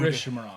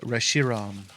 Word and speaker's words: Reshiram: Dude, Rishmaron. why do you listen to me? What you got? Rishmaron. Oh, you pronounce it. Rich Man. Rich Man. It's Poor Man. Reshiram.